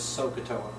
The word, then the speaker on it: SOHCAHTOA: over adjacent and if you could you could pronounce it as sohcahtoa you can have it you can get a